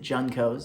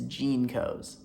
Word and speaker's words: Jeancos: I pronounced it Juncos, and that is not a brand of jeans, it is Jeancos.